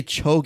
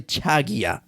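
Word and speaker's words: 저기요: sure to pronounce or make sure to say Chio don't say chag Chio Chio Choo means excuse me so if you're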